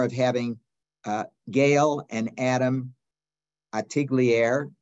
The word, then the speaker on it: Artigliere: And we will also have the honor of having Gale and Adam Artigliere, or Artigliere as they pronounce it, the daughter and